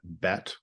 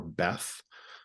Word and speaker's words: Beth: in the Hebrew alphabet, Bet or Beth. The pronunciation depends on the usage. It's in Hebrew what they call a double letter. So its pronunciation can change depending on usage.